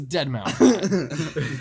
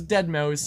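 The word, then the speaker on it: Deadmau5: Who listen The to- the correct pronunciation is Deadmau. If he wanted to be known as Deadmouse, he would have named himself Deadmouse.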